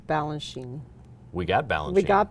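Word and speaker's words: Balanchine: is coming and we do know how to pronounce Balan Sheen we got Balan we got balenine his Muse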